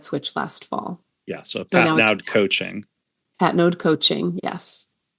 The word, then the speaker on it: Patnaude: common thing but yeah it's a French Canadian name so it's pronounced Pat node Pat node okay um so Ellen